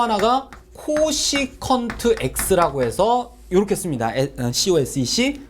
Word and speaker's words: cosec: 자, 그 다음에 또 하나가 코시컨트 x라고 해서 이렇게 씁니다.